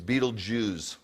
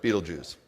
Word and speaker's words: Betelgeuse: by the way this billions of galaxies it's Betelgeuse see even the stars a Jewish that's how to pronounce that really Betelgeuse okay so 1.3 million earths fit inside the